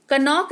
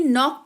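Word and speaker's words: knock: हैं यानी कि चाकू कनोक नहीं नोक पढ़ते हैं यानी कि दस्तक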